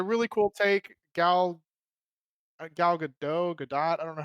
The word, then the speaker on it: Gadot: cool take gal gal gadot gadot i don't know how to say your last name i think it's good though i think she said on an interview that's pronounced godot yeah so like she